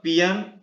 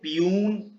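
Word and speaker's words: peon: दूसरा एग्जाम्पल आपके सामने है, द पियन rings the bell. इसको पियून पियोन नहीं बोलते हैं, इसका सही प्रोनाउंसिएशन है पियन।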